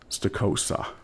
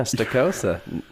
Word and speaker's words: Stokosa: evening it's my great pleasure to have stosa that's right I pronounced that correctly you got it yeah stosa You' be you'd be surprised how many people